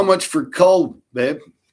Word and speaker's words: Kull: How much for Cull, babe? Spell it for me, please. It's K-U-L. Like skull without the S.